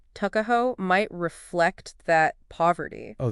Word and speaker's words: Tuckahoe: It's fascinating how we even point out that the name Tuckahoe, pronounced Tuckahoe, might reflect that poverty.